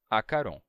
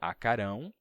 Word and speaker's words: acarom: Ouve sigo, teve consigo, um corvo, teve consigo um corvo, acarom. Esse acarom é uma expressão que, se a gente pronunciasse na língua atual, seria acarão, mas a gente não usa isso hoje.